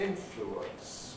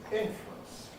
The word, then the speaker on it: influence: We can say influence with 3 syllables, influence. Or we can say influence, influence with 2 syllables.